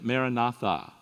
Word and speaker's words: Maranatha: recommend the prayer phrase Maranatha Maranatha maratha you know that kind of stuff recited is four syllables of equal length listen to it as